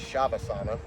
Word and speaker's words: savasana: part is the uh i thought it was savasana but i've heard it pronounced as shavasana it's a you just